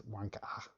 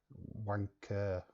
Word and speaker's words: wanker: Proper pronunciation, I believe, is wanka. Wanka. That's London. Wanka. James lost British rights. He's American now. No, it's a London phrase, that, William. Wanka. Wanker.